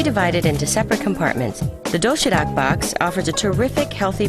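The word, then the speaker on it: 도시락: The doshirak box offers a terrific, healthy variety of neatly packed food.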